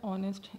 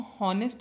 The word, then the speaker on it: honest: और मैं service man जो यह वर्ड ऑनेस्ट इसमें पांच लिखा है हम इसको हार्नेस्ड नहीं पढेंगे हम इसकी लेंथ इसमें करेंगे और असलम शोएब है यहां पर वह क्या रहेगा साइलेंट रहेगा ओके सो सर्विस